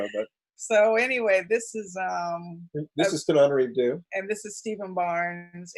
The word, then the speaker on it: Tananarive Due: And it's Tananarive Due. You got the hard one right. And it's the other one. You deserve an extra syllable. I've always thought so. But so anyway, this is Tananarive Due.